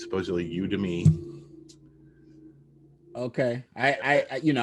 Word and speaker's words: Udemy: thing if you want to learn so uh you to me is this one i actually had to look that up i've been pronouncing it wrong all these years i've been calling it udemy but i looked up how to pronounce it